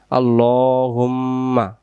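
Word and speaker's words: اللهم: আল্লাহুম্মা, আল্লাহ নয়, আল্লাহুম্মা আনতা রব্বি লা ইলাহা ইল্লা আনতা, লা ইলাহা ইল্লা আনতা, আনতা। এই যে গোল চিহ্নগুলো, এগুলো হলো সাকিন চিহ্ন। আল্লাহুম্মা আনতা রব্বি লা ইলাহা ইল্লা আনতা।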